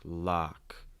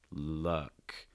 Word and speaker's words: luck: to say more like lock lock but it's not lock it's luck luck so it's not ah it's more uh slightly raising that that